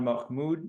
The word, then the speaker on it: Mahmoud: you uh for watching and thank you muhamed Mahmud is Mahmud no you hit it right the